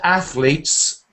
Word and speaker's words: athletes: Yeah, that word athletes. Let's try and get hold of that word. Ath is easy, and then you need leets. Athletes.